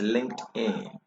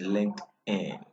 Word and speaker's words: LinkedIn: written there could you pronounce it great it's linked in the pronunciation is linked in yes so this is its logo or its